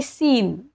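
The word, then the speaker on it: scene: आलेला आहे तसंच आहे सीन इथे पण चा उच्चार म्हणजेच एस चा उच्चार होत आहे सी चा उच्चार होत नाहीये म्हणजे देखावा किंवा दृश्य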